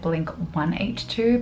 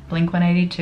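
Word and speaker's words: Blink-182: and I know that I said Blink 182 but Australians say it like that so don't come at me for not being a true fan Blink 182 is the Canadian and North American way of saying it so lots of Aussies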